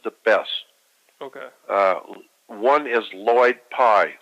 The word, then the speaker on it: Lloyd Pye: One is Lloyd Pye, spelled with 2 L's, L-L-O-Y-D.